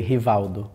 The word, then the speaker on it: Rivaldo: art I got you in Brazil we say hial I can yeah from now I can't even get after honalo and honalo the names like mostly r r so when it is at the end it's more like an R something yeah in Turkey rialo